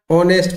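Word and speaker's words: honest: क्या रहते है बेटा ऑनेस्ट पढ़ते हैं हम साइलेंट रहता है और हमारा इसका उच्चारण जो प्रोनंसिएशन करते हैं वो ओ से चालू हो रहा है इसलिए जहां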